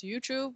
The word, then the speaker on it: Yuchu: So just to get it out of the way, it pronounces as Yuchu minus the BE.